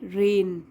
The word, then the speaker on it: reign: और ये भी होता है रेन, REIGN, जी साइलेंट होता है इसमें।